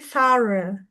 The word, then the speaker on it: thorough: Nah, terus tadi satu lagi, menyeluruh itu bacanya bukan through tapi thorough.